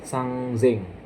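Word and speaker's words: 三千: Tapi di angka 3.000 dibacanya sang zeng pakai Z. Sang Zeng ya. Sangzeng ya.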